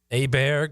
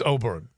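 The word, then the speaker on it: Åberg: By the way, did we did we figure out whether it was Aber or Abear? It's Ober. It's Oberg. So it's Oberg.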